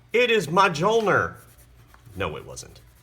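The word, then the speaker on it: Mjölnir: And here his hammer, Mjolnir.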